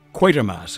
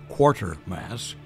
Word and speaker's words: Quatermass: knew where to begin quatermass is the name Bernard quatermass and make not the mistake of addressing the gentleman as quarter Mass a commonplace mispronunciation lest the cosmic balance